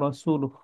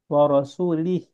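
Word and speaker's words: رسولُه: anallaha Barun Minal musyrik cuma orangor itu bacanya warasulih gitu nah kan jauh banget bedanya Kalau dibilang anallaha bariun Minal musyrikinaasul berarti Allah berlepas diri dari orang musyrikin dan Allah berlepas diri dari rasulnya H padahal bukan begitu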